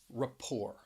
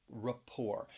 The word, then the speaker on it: rapport: nouns like gourmet coffee next is the word rapport rapport and you will hear people use this word